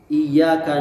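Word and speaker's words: إِيَّاكَ: Misalnya iyyaka na'budu wa iyyaka nasta'in. Itu kalau iya-nya enggak tasdid itu berubah kepada matahari.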